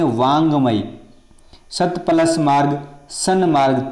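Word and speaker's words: वाङ्मय: तो वाक प्लस मई, ये देखो ये लिख दिया वांगमय, उच्चारण क्या हो रहा है, वांगमय, वाड़मय नहीं पढ़ेंगे, इसको बोलेंगे वांगमय।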